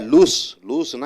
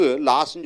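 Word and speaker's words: lose: அடுத்ததாக லூஸ்னா இழப்பது. லூஸ்னா இழப்பது. இறந்த காலம் லாஸ்ட்டும்போம். இங்கே ஆனால் உச்சரிப்பு லாஸ்ன்னு சொல்லக்கூடாது, லூஸ். ரைட்டா?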